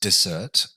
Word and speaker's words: dessert: We should also highlight that there is another word with two S's, which is pronounced desert. So it looks very similar to desert, but in this case,